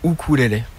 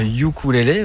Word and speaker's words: ukulélé: non yukoué en fait le U en en maori se prononce ou comme motou comme motou exactement donc en fait nor pour prononcer correctement le nom de l'instrument il faut dire ou cou la prononciation anglosaxonne c'est